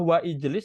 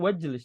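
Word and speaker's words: وَاجْلِسْ: Ini apakah wa ijlis atau wajlis cara membacanya? Wajlis. Wajlis. Maka ini namanya hamzah wasal.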